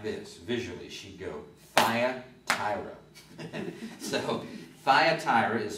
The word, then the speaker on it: Thyatira: And the T is easy to remember because my old friend Nancy Shaw used to say like this, visually, she'd go, Thyatira. So Thyatira is spelled T-H-Y.